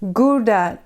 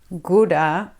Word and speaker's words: Gouda: For instance "Gouda" cheese. "Goeda"??? No we pronounce it as "GOUDA".